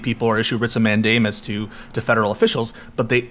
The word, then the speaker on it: mandamus: Indeed, consistent with that principle, states like even the lesser powers to issue writs of mandamus? How do you pronounce mandamus.